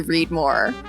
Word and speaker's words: Reedmor: family Legacy of reidmore it was always going to be readmore but it wasn't necessarily always going to be spelled the way that it's spelled so I'm sure Eagle ey folks will realize that uh read more is not spelled r e a d space m o r e on our sign and that was something